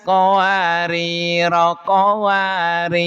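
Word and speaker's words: قوارير: Terus jika waqaf di qwari ro yang kedua rnya dibaca sukun. Berarti wakaf di sini nih di ayat 16. Wa akwabinat qwarir maaf. Wa akwabinas qawarir qawarir.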